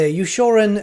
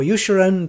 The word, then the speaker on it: Ushoran: a lot of choices they've got either yushoran or yushiran depending on how you want to pronounce it that's the site of